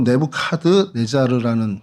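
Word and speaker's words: Nebuchadnezzar: 그래서 먼저 좀이 보면 이곳에 좀 대표적인 유물들이 어 공중 정원이라고 느브간네살인데 뭐 영식 발음으로 네부 카드 네자르라는 그 왕의 공중 정원이 있고요.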